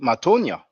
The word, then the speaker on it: Matonya: it's an artist called matonya and uh it's it's pronounced looks like it's it's it is spelled just like you pronounce it m m-a-t-o-n-y-a and the